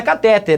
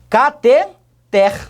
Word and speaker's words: cateter: palavra então marcelo catheter a última sílaba é que é a mais forte existem outras palavras cuja